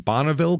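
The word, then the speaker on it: Bonneville: one this is in bonnaville county is that I'm going to say bonnaville because that's the car so I believe that is correct once Pontiac names a car after it that's how it's said sorry uh it is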